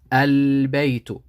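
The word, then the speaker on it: البيت: the maria that means the lamb has to be pronounced clearly the sukkon so we say al-bayito and this exercise the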